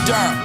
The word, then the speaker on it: Durham: We even pioneer life-saving medication over a craft beer, and the best food you tasted is Durham. The H is silent, the A too.